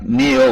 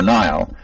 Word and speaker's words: Niall: "That's Niall, but pronounced like Neil or Nile. I've answered it either."